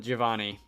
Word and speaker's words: Giovanni: the anime and stuff you usually pronounce it as Giovanni and probably a lot of people in general do but my Italian teacher in high school was pretty bad but she was Italian and did pronounce most words correctly and she called it Giovanni like in one and one uh anyone go without breaking it up into multiple syllables so I'm going to